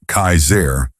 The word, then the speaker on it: Kassar: One man in particular, who called himself Kassar, pronounced Kaiser, was especially dangerous.